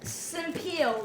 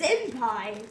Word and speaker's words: senpai: How did Senpil. That sounds like something Hitler would say. Okay, let's not do that. Senpai.